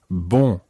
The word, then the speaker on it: bon: And remember last week when we were listening to our nasal sounds, the first syllable is very nasal. It's bon. Bon.